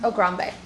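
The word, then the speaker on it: Ograbme: You can spell it as oh grab me, but it is also on the board. Oh grab me. It's also pronounced ogrambe.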